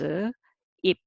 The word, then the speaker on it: 입: However, this syllable sounds ip, and this one also pronounced as ip. Bu and pu are different as an initial consonant, but as a final consonant, uh, there's no difference as a single syllable reading.